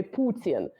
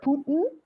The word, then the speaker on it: Putin: which pronunciation of like in Russian we say Putin right we actually emphasize the U but we also say